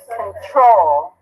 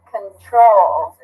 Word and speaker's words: control: Which one's stress? First or second? Control. Control. The second one.